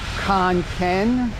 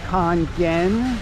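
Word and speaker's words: Khon Kaen: it to macro in Khan Ken Khan gen I think is the proper pronunciation this is a full-size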